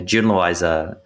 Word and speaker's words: Jun Loisa: friend yun's Yuna right is that the right way to say it yeah Jun loisa it's the English J exactly Jun loisa so